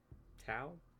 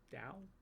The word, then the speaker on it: Tao: That's the Dow, right? Tao, Dao, however you want to pronounce it.